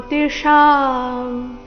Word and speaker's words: ಜ್ಯೋತಿಷಾಂ: ಆದಿತ್ಯನಾಮಹೌ ವಿಷ್ಣುರ್ ವಿಷ್ಣುರ್ ಜ್ಯೋತಿಶಾಂ ಇಲ್ಲಿ ಜೋ ಅಂತ ಇಲ್ಲ ಜ ಅಧಿಕ ಯೋ ಸೇರಿ ಜಿಯೋ ಜಿಯೋ ಜ್ಯೋತಿಷಾಂ ರವಿ ರೌಂಶುಮಾನ್ ರವಿ ರೌಂಶು